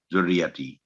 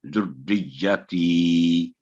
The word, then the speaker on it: ذریتی: تو جو غلطی ہوتی ہے بعد دفعہ ذریتی, تو یہ صحیح تلفظ نہیں, یہ صحیح تلفظ یہ ہوگا ذریتی.